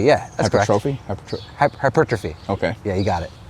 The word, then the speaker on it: hypertrophy: than uh exercise specific like curls you know hypertrophone hypertrophy because I don't know if you know how to pronounce that word hypertrophy yeah hypertrophy okay yeah you got it your stubbornness led